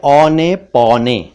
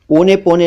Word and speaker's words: औने पौने: एक है औने पौने, ओने पौने नहीं, औने पौने।